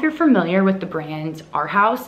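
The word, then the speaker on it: Arhaus: don't know if you're familiar with the brand our house it's spelled a-r-h-a-u-s and I got some glasses a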